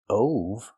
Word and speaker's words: of: The word of is pronounced with the short sound like cup and up. Not o like no and go. Not of, but of.